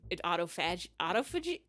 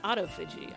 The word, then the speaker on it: autophagy: Autophagy?